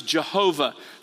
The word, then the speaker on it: Jehovah: that that is the personal name of God, pronounced Yahweh. In older translations, it was sometimes Jehovah, but it's God's personal name, YHWH in Hebrew,